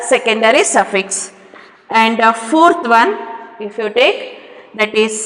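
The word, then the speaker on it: -one: Here we cannot tell it as one, it is on. You have to name it as on. That is the secondary suffix for ketones. Okay, you have to pronounce like on, not one.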